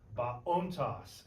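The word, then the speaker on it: βοῶντος: All right, now we got phone, baontos, ente aremo. Who wants to take G? Baontos. Remember, Omicron and omega are not a diphthong. So you'll pronounce them independently. Ba-ontos.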